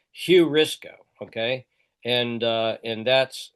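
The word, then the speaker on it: εὑρίσκω: It's not rough breathing but the next one is hurrisco hurrisco. And it's it's rough breathing. So I'm pronouncing it hurrisco.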